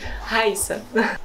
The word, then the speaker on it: Rayssa: So did I pronounce it right? Rayssa.